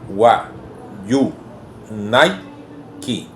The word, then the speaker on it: Wayuunaiki: Tenemos la palabra wa, yu, nai, ki.